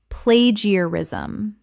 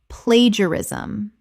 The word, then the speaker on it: plagiarism: Common mispronunciation: plagiarism. Correct pronunciation: plagiarism. 4 syllables. The middle syllables collapse together.